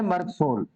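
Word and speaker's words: Merc Sol: मर्क सोल, pronunciation है मर्क सोल, पूरा है मर्क सोल्यूबस।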